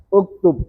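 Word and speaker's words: اُكْتُبْ: Berarti cara bacanya uk ukttu. Kenapa bisa U? Huruf ketiganya domah itu mudah toh.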